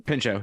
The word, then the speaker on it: Pinchot: I also want to Bronson- clarify that is how you pronounce his last name? Pinchot, yeah. Okay. All right. in real life, No, Yeah. is it? Yeah, I Pinchot.